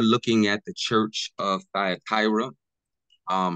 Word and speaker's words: Thyatira: at the church of thyra um however you may pronounce pronounce it I pronounce it thyra um but me I'm